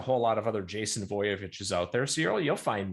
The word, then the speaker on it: Voiovich: And when you sound it phonetically, you think, oh, that makes sense. But if you just start typing in Jason Voiovich, Voiovich, usually it fills in the rest, which is nice.